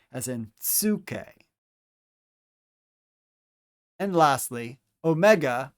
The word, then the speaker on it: omega: And lastly, omega, or big O, omega, makes a long O sound, as in O.